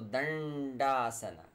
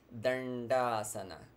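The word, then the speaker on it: Daṇḍāsana: but it's darsana so these dots they indicate the cerebral of pronunciation again what we were talking about when we were discussing number 3 Trini so dandasana so your tongue curls touches the alveolar and shoots forward dandasana then das and it's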